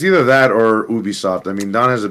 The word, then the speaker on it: Ubisoft: I always say Ubisoft. I get it, Crystal. I get Ubi. Pronunciation. I'm with Don. Ubisoft. I say Ubi. Some say Ubi. I've said Ubi my whole existence, so Ubi sounds inappropriate, bro.